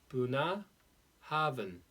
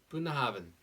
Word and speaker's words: Bunnahabhain: very long name and it looks like it's unpronounceable but it's buna haben buna haben so boon oven this is an eyelid